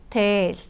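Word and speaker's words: дээл: 필기체 있니다데데 어 은요 우리 한복처럼 몽골의 전통 의상이고 몽골어로 데이라고 합니다 어 여러분들께서 쉽게 발음하지 때는 데이라고 하셔도 되고요 하지만 우리 몽골로 배우고 있으니까 이중 장모음 살리는 거 중요하겠죠 여긴 장모음이기 때문에 데데 살려 주시고요 다와 다와 월요일이고도도 노래입니다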